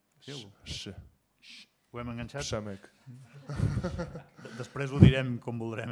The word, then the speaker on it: Przemek: It's my short name actually, Przemek, but you pronounce it Przemek with like silent P, and then RZ makes like a sh sound. Sh. Ho hem enganxat? Przemek.